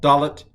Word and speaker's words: Dalet: When it has the dagesh, it's definitely pronounced duh.